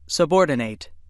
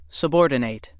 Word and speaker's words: subordinate: time subordinate and subordinate which pronunciation you use depends on how the word functions in a sentence if word 17 is